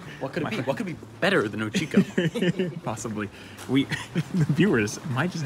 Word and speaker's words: Uchiko: I cannot call it Uchikus anymore. Our awesome adventure is coming to an end. But there's one final meal. What? One final meal? What could be better than Uchiko?